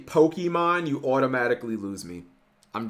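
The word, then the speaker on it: Pokémon: Is it really that difficult to just pronounce it with the accent?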